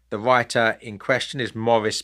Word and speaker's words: Maurice: writer in question is Morris bearing I think America's normally pronounced the name Maurice but I'm sorry I I can't do that so Morris bearing b